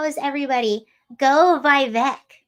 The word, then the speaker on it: Vivek: Go Vivek. Vivek rhymes with cake.